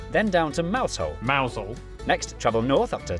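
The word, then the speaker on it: Mousehole: Then down to Moushole Mausole.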